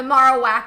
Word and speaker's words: Marowak: survive on the marak I guess his correct pronunciation the Marowak while he is on